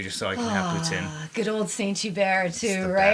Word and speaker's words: poutine: way I pronounce poutine, because it's pronounced poutine, not poutine.